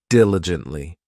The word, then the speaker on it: diligently: next we have diligently this adverb has four syllables and the stress is on that first syllable diligently it just means that